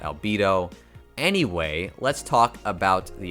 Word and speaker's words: Albedo: it as albedo and i've been saying her name wrong this whole time i apologize but i finally started watching overlord and i realized it's albedo and not albedo anyway let's talk about